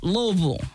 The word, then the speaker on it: Louisville: I should know how to pronounce that better. I lived in Nashville for years, so it's Louisville, right? Louisville.